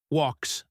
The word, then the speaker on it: walks: Let's look at walks out. Walks ends with the K sound or technically the S sound if we look at the spelling. But in walks, the L is silent.